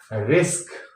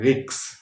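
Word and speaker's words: risk: की गलती होती है रिस्क रिस्क को क्या बोलते हैं रिक्स मास्क तो माक्स इश्क तो इक्स है ना तो इस तरह से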